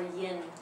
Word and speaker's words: yin: We write in, but according to Chinese and English pronunciation, usually they call in, right? Or yin.